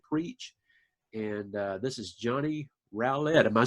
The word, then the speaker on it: Rowlett: And this is Johnny Rowlett. Am I saying that right? You did say it right. Good job, Rowlett. You know, a lot of people get my name wrong too.